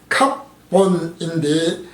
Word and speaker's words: 갑본: 갑본은 히브리어 발음으로 갑본인데 뜻은 깨닫다라는 것입니다.